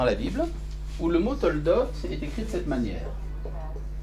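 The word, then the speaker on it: תולדות: En hébreu, engendrement, on avait dit Toldot. Toldot. Alors, regardez comment ça s'écrit. To-la-dot, quand c'est pas à l'état construit.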